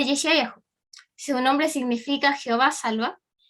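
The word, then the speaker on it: ישעיהו: El profeta Isaías, su nombre proviene del hebreo, que sale ahí, es el del medio, y se pronuncia Yeshayahu.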